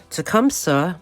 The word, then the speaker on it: Tecumseh: I talked about all the hospital affiliations he had, and I want to correct the pronunciation of where he was born. He was born in Tecumseh, Michigan, and he graduated in 1882 from Long Island College Hospital.